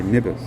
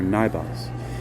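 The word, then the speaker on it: Nybbas: So the heart of the situation is represented by Nibus, or Nibas, which is spelled N-Y-B-B-A-S.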